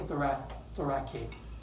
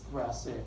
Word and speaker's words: thoracic: You see how we spell thoracic? With a CIC. So don't say thoracic. I hear that a lot. It's thoracic, it's just kind of, we spell it differently.